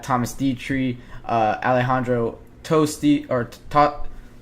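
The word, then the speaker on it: Tosti: I'm looking at Thomas diet Tre uh Alejandro tosty or to toti that's how you pronounce it Alejandro toti um finished one under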